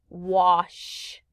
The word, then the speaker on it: wash: thing we learned is remember the ah can sound like ah in the word it makes this kind of sound wash or squash so remember we learned